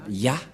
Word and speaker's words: Yah: et il a invoqué Yah. C'est clair, d'après cette explication, et personne ne peut contester que c'est bien Yah, la prononciation.